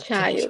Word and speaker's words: child: É tipo tchá Child.